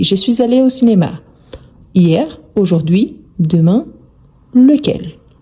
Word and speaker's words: hier: Donc hier, on ne prononce jamais le H, c'est un H mué.